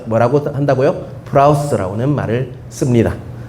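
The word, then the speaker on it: πραΰς: 헬라어로 한번 기억해 두세요 이거는 프라우스 합니다 뭐라고요 풀하우스 아니고요 프라우스 풀하우스 아니에요 풀하우스 내 발음이 안 좋아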